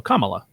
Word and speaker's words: Kamala: you're good you're good it's Comm it's like comma like if you're saying like a comma as a as a grammatical thing like so commala okay all right I'm